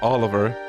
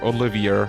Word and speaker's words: Olivier: party member yeah it's it's not Oliver it's uh Olivier or Olivier however you want to pronounce that let me just say